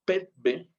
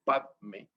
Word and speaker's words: padme: En el padme, los tibetanos usan más bien la forma petbe y en sánscrito se escribe padme.